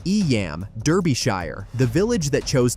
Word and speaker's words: Eyam: Eyam, Derbyshire, the village that chose to die. Eyam, pronounced Eam, sits in the Derbyshire Dales within the Peak